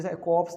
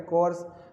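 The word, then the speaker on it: corps: इसमें type P नहीं पढ़ते हैं साथियों, पी कोर्प्स नहीं है, पी साइलेंट है, कोर्स है ना, जिसे हम एनसीसी कहते हैं शॉर्ट में।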